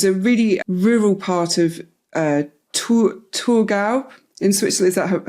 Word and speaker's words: Thurgau: He was born in July 1875 in Kessel, which is a really rural part of Thurgau in Switzerland. Is that how you say it? Thurgau, yeah.